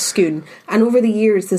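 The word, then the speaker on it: Scone: at a place called schoon not school no schoon is spelt s-c-o-n-e like the baked good but it's not pronounced it's pronounced skoon and over the years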